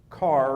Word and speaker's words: Kerr: If you're in North Carolina, this is John H. Carr Reservoir. It looks like Kerr.